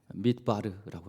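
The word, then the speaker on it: מדבר: 히브리어에 보면은 광야는 mid바르라고 하고 mid바르 발음이 그렇습니다.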